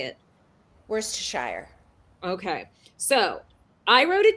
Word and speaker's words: Worcestershire: That's the way it's spelled, but that's not how it's pronounced. Do you know how to say it? How do you say it? Worcestershire.